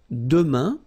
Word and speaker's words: demain: For the future now, we've got demain, and it means tomorrow. Demain, remember, when you combine this A-I-N, you get the sound un.